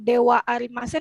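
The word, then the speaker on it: では: Ini juga sama yang dewa arimasen. Ini kan kalau hiragana itu DH arimasen, tapi dia tidak dibaca DH arimasen. Itu dibacanya dewa arimasen.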